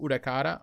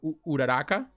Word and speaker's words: Uraraka: scishow they have the ochaku udakara or uraraka that's what they pronounce it and himiko toga i